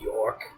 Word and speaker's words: York: York. Okay. Rhymes with cork. I'm going to suddenly start paying attention to what they're talking about. This other priest, is his name York?